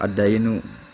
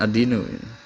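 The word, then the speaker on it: الدَّيْن: Wahal yamna'u dan apakah mencegah apa ad-dainu, bacanya bukan ad-dinu. Kalau ad-dinu agama.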